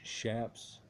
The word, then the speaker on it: chaps: down on your neck chaps usually pronounce shafts or shings protect the rider's leg